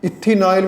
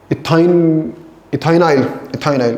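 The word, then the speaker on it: ethynyl: ये इथिनाइल ही था, सॉरी इथाइनिल आई, एक बार मैं प्रोनाउंसिएशन गड़बड़ कर रहा हूँ। हाँ इथाइनाइल, अब सही है, दिस इज करेक्ट, इथाइनाइल।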